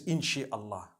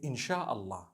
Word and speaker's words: insha'Allah: No one says inshi Allah. They say insha'Allah.